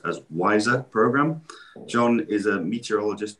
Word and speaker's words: WISER: climate information services of africa which is easily pronounced as wiser program john is a meteorologist by profession having